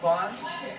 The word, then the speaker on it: Vaughn: the Los Angeles area, it's pronounced just like the grocery store. You know, Vaughn's. My name's Vaughn. It's spelled differently, but pronounced the same. And for those of you that aren't from the Los Angeles area, well, just remember that my name is Vaughn. It's like Ron or Don with a D.